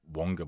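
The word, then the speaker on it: Waqa: The Waka Blake, or Wonga Blake, as it seems to be pronounced now.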